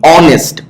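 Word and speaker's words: honest: অনেস্ট, হনেস্ট কিন্তু উচ্চারণ করো না তুমি, অনেস্ট, অন, এই জন্য এটা ভাওয়েল সাউন্ড হয়, তখন এরপরে অ্যান বসে। এইসটা হলো সাইলেন্ট এইস।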